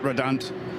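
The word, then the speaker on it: Redant: We were chatting to them yesterday in the bar and uh Bert Redand, sorry, Bert Red to give it the Belgian pronunciation, the team principal and man behind Red Ant Racing.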